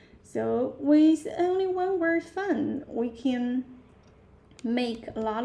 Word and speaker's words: 饭: Fun. Yeah, falling tone, sharp falling, up to down. Fun.